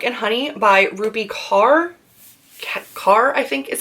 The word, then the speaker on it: Kaur: Kaur, I think is how you say it.